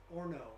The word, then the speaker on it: Horno: everything that doesn't realize camp horno in pendleton is actually supposed to be pronounced or no and if you speak spanish that means oven so two hot places